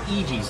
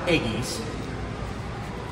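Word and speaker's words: Eegee's: restaurant that's native also to Sun Arizona it's pronounced EG's not Eggies and they have a limited time only dill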